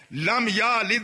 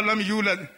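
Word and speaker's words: لم يولد: لم یا لد و لم یولد یہ پڑھ لیتے ہیں آپ. اب لم یا لد اگر پڑھنے گے تو معنی بالکل ہی بدل جائے.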